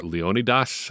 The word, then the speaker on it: Leonidas: out patrons Craig Garretson Leonidas Pereira or Leonidas I think if you go with the ancient Greek pronunciation and John heard appreciate